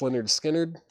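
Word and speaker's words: Lynyrd Skynyrd: Skirty Pity, John Male, Leonard Skinnard, pronounced Leonard Skard, Mothers as in like Frank Zappa, Alice Cooper, Looking for Mr.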